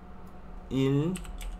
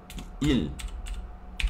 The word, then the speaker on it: 일: Para indicar días se dice il. Il. Pronuncia igual que número 1, il.